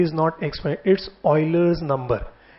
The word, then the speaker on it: Euler: एक साइंटिस्ट हुए थे, स्पेलिंग उनकी थी EULER, पर बोलते थे ऑयलर।